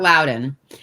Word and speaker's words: Loudoun: Loudoun County is spelled Loudoun, but it's pronounced Loudoun, so that's a little weird.